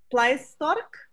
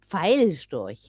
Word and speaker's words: Pfeilstorch: be very bad, but it's called Pleistork. Stork. How do you say it? Pfeilstorch.